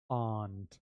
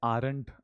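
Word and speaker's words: aren't: आर को हम खा जाते हैं साइलेंट होता है और इसको प्रोनाउंस ही नहीं करते। हम सिंपली बोलते हैं आंट। क्या बोलते हैं? आंट आंट इतना समझ में आया?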